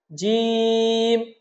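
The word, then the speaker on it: جيم: আমরা বলুন আমার সাথে জিম জিম জিম হরফটার চার আলিফ টা আনতে হবে চার আলিফ মানে দুই থেকে তিন সেকেন্ড দুই থেকে তিন সেকেন্ড আমরা টেনে বলবো জিম তারপরের হরফটা হলো হা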